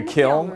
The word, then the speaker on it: kiln: we are in the kiln actually is that how you say it the kill okay and we're we're in